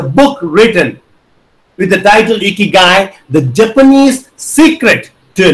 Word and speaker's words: Ikigai: Ikigai. The word is pronounced as ikigai.